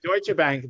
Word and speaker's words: Deutsche Bank: Deutsche Bank. I butchered that name, but go ahead. Yeah, Deutsche Bank, the German bank.